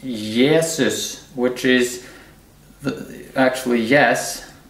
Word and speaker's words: Jesus: of 5 05 05 Jesus in Norwegian is pronounced yeses which is the actually